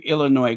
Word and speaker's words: Illinois: Where does the name Illinois come from? And remember, the S is silent.